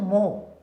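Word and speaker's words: mho: भी एक तरीका बनाएगा मतलब इसको अपोजिट लिख दो इसे डेट स्पेलिंग को उल्टा पढ़ो मो तो इसको बोलते हैं मो ठीक है तो ये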